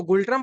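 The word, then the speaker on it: Ngultrum: 124 नगुल्ट्रम जिसको गुलट्रम पढ़ा जाता है। एन को साइलेंट रखा जाता है।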